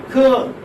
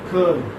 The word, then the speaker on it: curl: Curl, for example, curl. Curl. Here you may have girl. Curl. How do you transcribe like this? Curl. R is not pronounced, okay, curl.